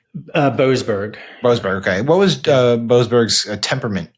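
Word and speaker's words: Boasberg: What was judges, I want to make sure I'm pronouncing his name correctly, is it Borsberg? Boberg.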